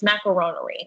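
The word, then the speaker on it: macaronnerie: But my original name is going to be, I can't even pronounce it because it's just going to sound like the word macaroni. It's macaronerie, which is the French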